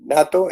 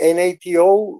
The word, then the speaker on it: NATO: i just don't understand even then even the natto n-a-n-e-t-o i how do you say natto in english you say n-a-t-o natto or o how sorry uh nato nato